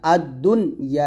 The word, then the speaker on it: الدنيا: ওয়ালাকাদ যায়্যান্না السماء الدنيا আদ-দুনি নুন যে উচ্চারণ করবেন না আদ-দুনিয়া ক্লিয়ার উচ্চারণ করবেন আদ-দুনিয়া বিমাসাবিহা বি এক